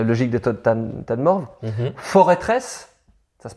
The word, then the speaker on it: Forêtresse: Forêtresse, ça se prononce forêtresse. Attends, quoi? Tu peux répéter? Eh ben forêtresse. C'est pas forteresse? Mais non, c'est une forêt. C'est la forteresse de la forêt.